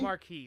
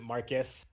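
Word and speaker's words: Marques: mark-ass Brownlee the guy his name is Marcus Brownlee muddy pronounced Raul marquise marquise marquise but Will Smith pronounced it Marcus like it sounded like he said Marcus brown we everyone made fun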